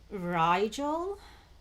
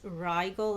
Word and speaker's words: Rigel: Um, and it's actually giving me Rigel. I mean, I don't know, maybe some pronounce it as Rigel as well, Rigel, but it could be Rigel and Betelgeuse.